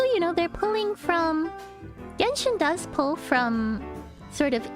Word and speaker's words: Genshin: hold Shenzhen are called holo jeans." Like, no, they're called Genshin. And in fact, Genshin is a really awkward thing because Genshin is the Japanese pronunciation of the characters, whereas it's a Chinese